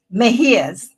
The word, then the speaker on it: Mejias: name for me I want to butcher that mejias mejia's see I would have totally butchered it I would have just called you